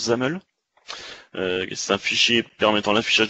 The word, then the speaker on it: XAML: Ça veut dire Extensible Application Markup Language, ça se prononce XAML.